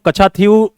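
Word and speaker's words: Katchatheevu: अब एक और प्रॉब्लम है वहां पर, कच्छा कच्छाथीव आइलैंड, रुको मैं लिख देता हूं इसको, कच्छा स्पेलिंग एक बार चेक कर लेना, कच्छाथीव, TH है ये, THEEVU, ठीक है।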